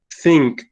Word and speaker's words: think: It's like you're going to set O sea, ponemos pon la punta o el lápiz de la lengua entre tus dientes y como que trato de soplar sin sacarla.